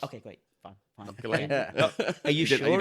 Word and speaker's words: Gullane: picked up the phone and she said, "Hello, Gullane Golf Club. Lisa speaking. How can I help you?" And I was like, "Hello, okay, so it's Gullane, is it?"